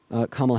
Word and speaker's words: Kamala: For instance, like I fell victim to pronouncing Kamala Harris's name as Kamala, and then when I